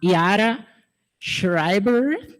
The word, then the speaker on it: Yara Schreiber: Primeiro eu queria que subisse aqui ao palco a Yara Schreiber, perdão se eu falei errado. Falei certo, Yara? Eu tentei 1000 vezes pronunciar.